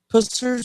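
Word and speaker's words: Pusser's: British I got that the name of it spell it again p u SS e r apostrophe s rum now say the name Pussers rum I just want to make sure you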